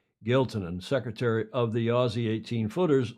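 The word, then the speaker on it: Giltinan: The JJ, as it's called, the JJ Giltonen. And it's not Giltonen, it's Giltonen. I actually checked that pronunciation this morning.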